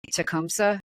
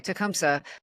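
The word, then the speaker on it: Tecumseh: in the area um I always wonder if I'm pronouncing this correctly tumsa tumsa yeah okay tumsa who was born in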